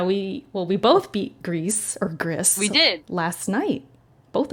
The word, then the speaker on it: Gris: I also beat Gris, or I think it's pronounced Grease, which is the background you guys are looking at.